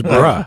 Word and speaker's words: bruh: It's bruh.